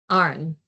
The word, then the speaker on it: Aaron: I mispronounced it. You're all good. I'd say Arn. Arn.